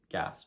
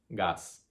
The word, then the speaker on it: gas: Next word, gas, gas. One syllable, should be pretty simple. It's gas, gas. So that A sound is the pure A, remember.